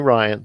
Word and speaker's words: Rian: think Rian Johnson and I know I have been saying rien in the past weeks because his hits you know let her see his name is spelled RI and thought it was R and it's actually Ryan sorry for those out